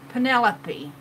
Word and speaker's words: Pinelope: And Pinelope is spelled P-I-N instead of P-E-N because it's pin as in pincushion. Pinelope.